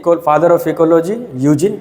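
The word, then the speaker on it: Eugene: इसको आप यूजिन पढ़ेंगे, यूजिन, ई साइलेंट रहेगा, यूजिन पी ओडम।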